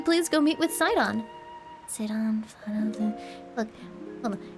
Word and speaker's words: Sidon: Sidon... Look, hold on. How to pronounce... I think it's Sidon. I agree with this because it's like Poseidon.